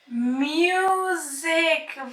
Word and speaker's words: music: Put on some music. Very good. Put on some music. Excellent. So this is a singular word, but the letter S here is pronounced as Z. Music.